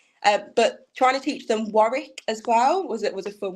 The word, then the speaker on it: Warwick: and tell their friends they knew how to pronounce it. But trying to teach them Warwick as well was a fun one.